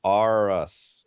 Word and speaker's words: Aras: By the way, Aras is the correct pronunciation.